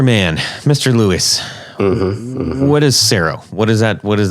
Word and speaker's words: Scero: so I just combined the two being Sero not realizing at the time that I kind of gave him more of his last name than I really did mine I really probably should have pronounced it Scarrow but I just never like the way it sounded and he he he